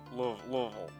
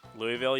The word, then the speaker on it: Louisville: Louisville. That's the key. That's the trick to saying Louisville. You've got to take out all the letters of it.